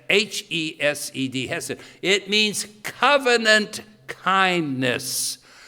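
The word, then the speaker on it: חסד: And the word here, loving kindness, is the Hebrew word hesed, or someplace you could spell it chesed, C-H-E-S-E-D. It's hesed, H-E-S-E-D, hesed.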